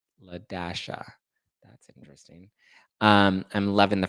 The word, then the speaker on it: Ladasha: I met an employee named La-A, but pronounced Ladasha. Ladasha.